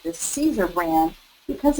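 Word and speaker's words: Siser: personally like Cesar brand it's spelled s i s r pronounced like Caesar and this is um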